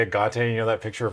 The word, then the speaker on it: Agate: I could I still could play this a agot blade assassin go ahead Cameron whenever it attacks